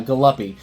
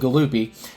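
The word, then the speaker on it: Galluppi: Uh Gal Galupy or it's Galupy. So, I'm going to go with Galoopy.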